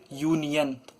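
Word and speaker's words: union: ऐसा वर्ड है कि अगर यू आया है और अगर वो खुद ही का प्रोनाउंस करे यू यूनियन आगे आ गया यू यूनियन लिखा है और पढ़ भी उसे यूनियन ही रहे तो वो क्या लेगा ए लेगा यानी कि वो कंसोनेंट में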